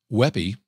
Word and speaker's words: WebP: This one, it's pronounced Weppy, which I don't know who made that up, but I do agree with that.